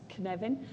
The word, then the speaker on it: Cynefin: It's pronounced like Kevin with an un, so now you'll remember, it's Cynefin.